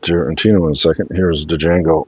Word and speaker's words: Django: in a second here's Django D Jango unchain all right the D is silent a nice nice Steel